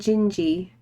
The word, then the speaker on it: Gingy: It's the NG and Gingy. Pronounced like the NG and Ginger. It's like ginger.